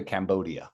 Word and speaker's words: Cambodia: But in English say Cambodia with a D.